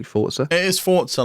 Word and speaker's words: Forza: a force ago in my life am I pronouncing it correctly Forza it is thoughts are like pizza and lots